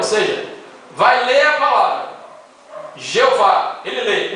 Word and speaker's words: Jeová: Bom, a pronúncia está certa, é Jeová, sim, está certa, é Jeová.